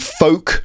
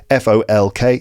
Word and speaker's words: folk: would or should it's could would should and folk like folk music f o l k folk and the word half half quarter eth